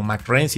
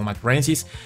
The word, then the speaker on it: mcraeensis: no es por eso que se pronuncia como m renis se pronuncia como m renis porque viene de este la formación mcre y